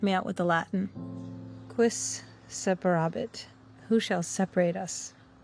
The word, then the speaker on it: quis: Hugh, so it'll be quis, right?